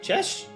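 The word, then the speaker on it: Cześć: I don't know how to pronounce that. Chesh.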